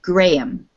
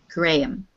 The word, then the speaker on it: Graham: And in English, this man's name is Graham. Graham. Graham. Graham. We pronounce the G, but not the H.